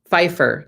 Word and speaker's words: Pfeiffer: Pfeiffer. Yes. See, I grew up with someone who had kind of a similar name, but they pronounced the P instead of the Fs. So it was pronounced differently.